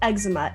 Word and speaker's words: eczema: i guess but like what about eczema it sounds exactly like there's an x but it's spelled e c z not e x are you just saying